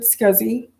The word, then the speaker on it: SCSI: computer system interface and they pronounce it scuzzy and i like to